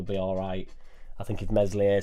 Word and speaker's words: Meslier: I think if Meslier Silent S stays in, I actually think Mez would be alright if he stayed.